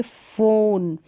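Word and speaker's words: phone: जैसे कि यहाँ पर देखिए फ़ोन, यहाँ पर ओ का थोड़ा लॉन्ग साउंड होगा, लंबा उच्चारण होगा।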